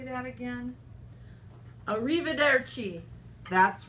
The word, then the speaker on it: arrivederci: Arrivederci.